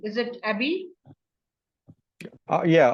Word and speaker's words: Abiy: I hope I am pronouncing the word correctly. Is it Abiy? Yeah, Abiy, Okay.